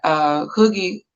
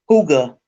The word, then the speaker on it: Hygge: Hooga. Hooga. I'll remember it now. Hooga, like a hookah.